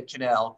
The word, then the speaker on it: Connell: mentioned it as well we say canel connell is how it's